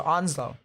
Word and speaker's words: Onslow: Onslow this time because someone said emphasize the uh s more like a z so Onslow um it's honestly the